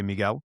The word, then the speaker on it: Miguel: I would say Miguel and they go Miguel. And they would say my name properly back to me.